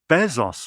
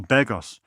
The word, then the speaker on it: Begos: The latest Joe Bezos film. I love Joe, even when I pronounce his name right. Joe Begos.